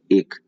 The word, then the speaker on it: ache: आज के 4 वर्ड्स होंगे हमारे कि ऐसे ही वर्ड लिखा है, यहाँ पे उच्चारण लिखा है और इधर हिंदी मीनिंग है। 4 वर्ड्स में पहला वर्ड एक, ACHE, एक।